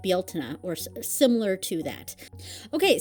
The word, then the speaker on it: Bealtaine: in Irish it's spelled Bealtaine, Bealtaine, and it's pronounced like Bealtaine, or similar to that.